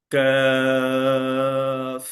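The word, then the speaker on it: كاف: শক্ত মোটা ভারী কিন্তু কাফের উচ্চারণ হবে পাতলা সেটা শক্তও হবে না ইভেন সেটা মোটা করেও হবে না কাফ কাফ কাফ কা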